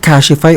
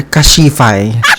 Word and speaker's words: Cashify: Is it Kashify or Kashifai? Kashifi. Parang parang ang pangit ng ano ng pronunciation ng kashifi.